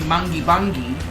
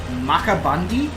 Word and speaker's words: Goondiwindi: The classic in this area is what you would think would be Goondiwindi, but it's actually pronounced Muckabundy.